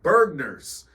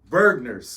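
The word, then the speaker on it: Bergner's: Bergers that she loved called what bergners spell that b e r g n e r s Bergers Bergers it sounds like we shouldn't be there definitely sounds like we should not ever shop there Hey listen if you was from the Midwest you knew what what what Bergers was Bergers Bergers man Bergers it just sounds so why you say it like that it sounds disgusting hey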